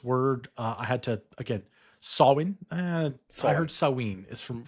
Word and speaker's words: Samhain: But for those not so knowledgeable here, Halloween traces back to Samhain, or Samhain, I should say. And this word, I had to, again, Samhain.